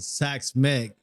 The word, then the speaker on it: Xaks Mek: you pronounce it you asked me how to pronounce it sax Meg is the correct pronunciation so it's basically my